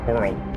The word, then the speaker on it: whirl: There's a W, or there's an H in whirl, so I'm gonna pronounce that whirl.